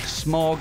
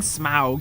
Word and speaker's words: Smaug: of Smaug that's smog not smog as I've always read it um I'm saying Smaug it sounds so ridiculous well it does but um Tolkien was um very specific about how these things were pronounced because he was a linguist okay anyway it's a